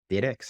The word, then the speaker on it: dYdX: as un Swap and dydx diex I believe is how you say it that enables buyers and